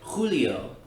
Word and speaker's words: julio: h is always silent words that include the hota are words like julio and hamas julio meaning july and hamas meaning never ever um includes the h sound but you can hear that it's not actually articulated and the same is